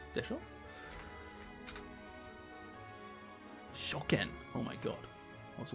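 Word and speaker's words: 初見: Should I say Hatsumimi? Hatsumi? Hatsumimi? ちょっと待って。読み方忘れちゃった。Hatsumi でしょ? Shoken.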